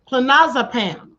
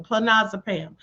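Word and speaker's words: clonazepam: So, it's pronounced Clinazipam. Clinazipam, spelled C L O N A Ze P A M. Clinazipam.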